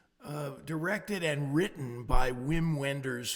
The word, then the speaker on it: Wim Wenders: And it's 2 and 1/2 hours, it was, uh, directed and written by Wim Wenders, whose pronunciation is actually Vim Venders, if you want to be, uh, accurate to the German pronunciation.